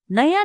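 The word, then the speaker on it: know: teach जानू थहा पु नो के एन O double you नो यहां के साइलेंट हु्छा के एन ओ डबल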